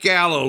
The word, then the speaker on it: Gallo: Gallow, ladies and gentlemen. Did I pronounce it correctly?